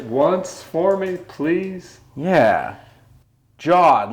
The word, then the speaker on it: Jod: It's Jod. It's 3 letters. It's, you know, like you got this fishing rod over there. It rhymes with the fishing rod.